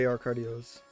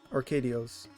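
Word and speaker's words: José Arcadio: this until now there is actually two Jose arcadillos arcadios I've been pronouncing it wrong for for so long now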